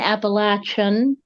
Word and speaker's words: Appalachian: So in my culture, Appalachia and Appalachian are the appropriate way to say those words.